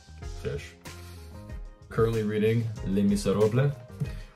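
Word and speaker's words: Les Misérables: Currently reading Les Miserables, which is the actual pronunciation. It ain't Les Miserables.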